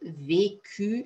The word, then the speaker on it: vécu: le participe passé vécu attention c'est vécu ça se prononce comme ça j'ai toujours vécu toute